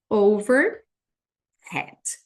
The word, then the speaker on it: overhead: gente fala aqui overhead esse H vocês viram que ele fica com som de R então a pronúncia do overhead vai ficar assim over head overhead overhead a gente você vai